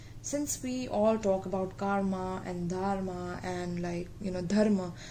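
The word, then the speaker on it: कर्म: we all talk about karma and dharma and dharma, that's what in Hindi we call it as karm and dharm. Okay, that's how we pronounce it in Hindi, and it's a Hindi word itself.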